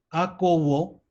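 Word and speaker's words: ἀκούω: Escuchar, que es acuo, perdón, porque OU se pronuncia como una U, y entonces es una O, entonces esto es acuo, lo escucho.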